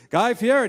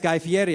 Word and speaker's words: Guy Fieri: Because he was like, yeah, well, I said, Guy Fieri. He's like, yeah, it's Guy Fieri.